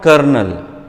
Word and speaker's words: colonel: So, it is, see, for example, kernel, COLONEL, kernel. Pronunciation what? Kernel. Using what? COLONEL.